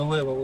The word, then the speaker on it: Лев: Насчет левел, да, странно говорят, что это за левел, у тебя там меряешь левел, но это тут